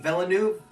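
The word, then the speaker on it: Villeneuve: fan of the director denise velanu is how you say it i love his directing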